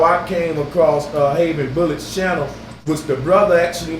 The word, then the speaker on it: Javen Bullets: A lot of people say Javen Bullets, but I think you pronounce it Javen Bullets. And am I correct, brother?